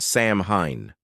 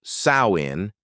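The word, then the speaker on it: Samhain: Its roots go way, way back to an ancient Celtic festival called Sam Hine, pronounced sawin.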